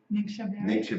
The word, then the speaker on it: Ningxia: It wasn't the do you pronounce it? Ningxia Ningxia.